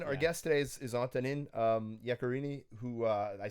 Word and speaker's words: Yaccarini: But yeah, Antonine, our guest today is Antonine Yaccarini, who I said that in the most like Yaccarini. Yaccarini. How do you say that? I love it. Yaccarini.